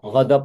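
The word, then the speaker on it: غضب: Nah, marah itu Godop bacanya godop. godop, godop Ya, ya, godop. bahasa Arab ya, godop.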